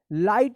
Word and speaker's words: light: चलिए अब इसको पढ़िए, LIGHT, देखिए आई के बाद GH है तो आई का क्या उच्चारण होगा, तो आप जानते होंगे, याद होगा रूल्स, तो क्या इसको पढ़ेंगे, लाइट पढ़ेंगे, लाइट, इसमें GH जो है ना साइलेंट रहता है, लाइट, ठीक है।